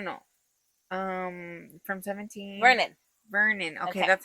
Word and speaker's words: Vernon: Vernon.